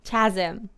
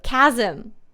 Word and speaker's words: chasm: Chasm. Thank you. Chasm.